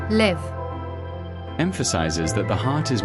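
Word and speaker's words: לב: The Hebrew word, which is glowing in this picture, pronounced as LEV, emphasizes that the heart is more than a physical organ.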